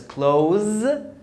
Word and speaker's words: clothe: The TH is pronounced as voiced TH, as in there.